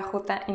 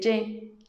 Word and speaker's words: je: No se dice je, se dice je.